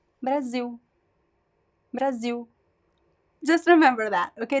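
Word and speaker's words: Brasil: have to remember that the L at the end of syllables they are pronounced as o o this is a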